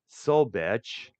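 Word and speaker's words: Zach Sobiech: Zach Sobech, it's spelled Sobiech.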